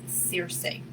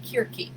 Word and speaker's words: Circe: working with god is searsing or i just learned her real name like it's spelt c-i-r-c-e but it's ancient greek and it is pronounced kirki so the the power